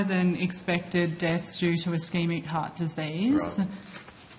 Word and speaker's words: ischemic: and their stats show that how do you pronounce it? Ischemic.